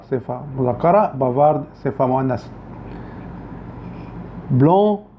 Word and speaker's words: blond: وفي النطق لاحظوا ان النطق الصفة المذكرة بيختلف عن الصفة المؤنثة. بافار، بافارد. بافار صفة مذكرة، بافارد صفة مؤنثة. بلون، بلوند.